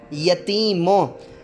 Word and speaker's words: یتیموں: تلفظ کے ساتھ پڑھیں۔ یتیموں، یہ پر زبر، تے کے نیچے زیر یتی، اور یہ کے اوپر جزم اور میم پر پیش، واو بھی جو ہے وہ مجزوم ہو جائے گی اور نون بھی